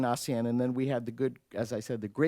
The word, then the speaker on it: ASEAN: for you I I don't understand why you pronounce Asian assassian you know you've learned the language well since you immigrated it's about time you you you do pronounce it correctly and so that started this process of trying to explain Asen and then we had